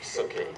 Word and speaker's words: Sukie: talking about her name it's Suk as in cookie and so you know